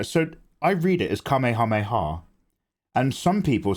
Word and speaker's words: Kamehameha: God KEH hameha yeah I call it a Kamehameha not a kameha not a kameha kameha mayor